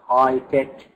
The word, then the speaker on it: high-tech: The G is silent, high-tech design. Adnan wants to become a high-tech designer, so this is his dream in the future.